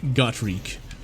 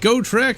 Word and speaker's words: Gotrek: loved gotrek and felix although it's probably more pronounced got reek but i've always forgot oh god damn it i've always pronounced it go trick and i'm not gonna change it now and so